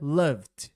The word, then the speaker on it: loved: É muito comum ouvir pessoas do Brasil falarem love, só que em inglês se fala love e aí com o D fica loved, ainda não pronunciando a letra E, tá?